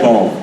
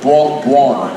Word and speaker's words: buon: I don't know Everything is bon. No, buon. Guan? Everything is buon.